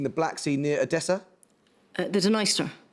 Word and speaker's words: Dniester: Black Sea near adessa the dener yes usually pronounced needs to finally flowing through Western